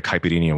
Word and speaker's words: caipirinha: When I had that, and I think I had a caipirinha with that as well.